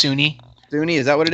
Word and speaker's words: SUNY: is at Sunny Buffalo. Breaking down Breaking Bad. It's pronounced SUNY.